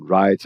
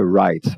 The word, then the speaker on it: write: Se a palavra começa com WR, eu não pronuncio o W, vou direto no R, né? Writing, written, write and wrote.